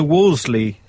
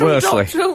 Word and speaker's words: Worsley: So we've heard from Dr. Wolseley this week. She is a historian. Lucy Yes. Worsley. Worsley? How do you say Lucy it?